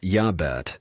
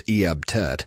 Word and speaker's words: Iabet: Pronounced Yabet or sometimes Eabt.